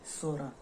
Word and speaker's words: Psora: First one वाज दी सोरा, PSORA, यहाँ पे P silent है।